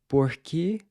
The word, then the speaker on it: por que: why you’re learning Portuguese… “**Por que português?**”…“Por que português?” Again, make sure that there’s no puff of air when you pronounce the “p” and “k” sounds—“por-que”.